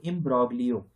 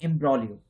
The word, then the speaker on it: imbroglio: Normally अगर नहीं जाने रहेंगे तो आप बोलेंगे इसको इम्ब्रोग्लियो, लेकिन गलत है, ये जी यहां साइलेंट होता है, इसको बोलते हैं इम्ब्रोलियो। इम्ब्रोलियो का मतलब होता है अ स्टेट ऑफ कंफ्यूजन, असमंजस की स्थिति।